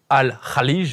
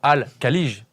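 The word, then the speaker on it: Al Khaleej: C'est comme les équipes de Saudi League on ne dit pas al Khaij mais al Kalig.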